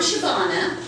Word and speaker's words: Shabana: kind of asian successful I'm shabana the easiest way to remember that is it rhymes with banana I would spell it